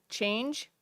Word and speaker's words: CHANJ: that presentation, they highlighted what's called CHANGE, which is spelled CHANJ, which stands for Connecting Habitat Across New Jersey.